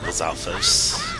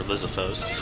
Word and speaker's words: Lizalfos: Take that, Lizalfos. Or Lizalfos, however you like to pronounce its name. Some people say Lizalfos, I usually say Lizalfos, or interchangeably I say either or.